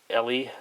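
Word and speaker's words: Eley: So carrying on from that, the next one is this, I'm always mispronouncing this, Ellie Club Extra. I believe it's how it's pronounced, Ellie.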